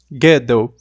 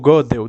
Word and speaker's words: Gödel: Neste vídeo nós estaremos considerando o argumento ontológico conforme ele foi proposto por Kurt Gödel, ou Gödel, dependendo do jeito que pronuncia, porque é aquele O com um trema em cima, né?